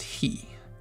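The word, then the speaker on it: へ: And it's pronounced he.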